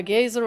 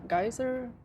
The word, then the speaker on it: geyser: A gazer of blood erupted from his neck. How do you say that? Gazer ga geyser.